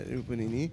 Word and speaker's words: Rupununi: I coming down to the Rupununi. I pronounce it right? Yeah, Rupununi.